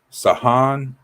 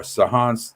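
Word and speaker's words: Samhain: I don't want to mispronounce it, but it's the way it's spelled is not the way it's pronounced, right? And involving the Christian observance of all saints day. Zahan marked the end of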